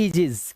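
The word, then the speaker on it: aegis: यह देखिए इसे हम ए नहीं पढ़ते। ए इसे पढ़ते हैं एजेस। क्या पढ़ेंगे? एजेस। तो ए और ई मिलकर क्या आवाज निकाल रहा है? ई की आवाज निकाल रहा है।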